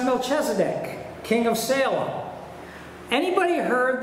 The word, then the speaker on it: Melchizedek: It's pronounced Melchizedek, king of Salem.